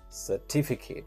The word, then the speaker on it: certificate: we have is certificate certificate where the syllable where the stress is on the second word t and the pronunciation should